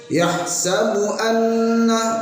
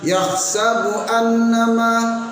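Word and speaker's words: يَحْسَبُ أَنَّ: Nah, yang kedua pada ayat 3 ialah gunnah juga sering hilang pada lafadz anna. Sering terbaca yahsabu annama. Bacanya betul tapi dengungnya yang hilang, menjadi kurang betul pula, menjadi tidak betul juga, sehingga seharusnya yahsabu anna ada dengungnya, satu alif pada dua harokat.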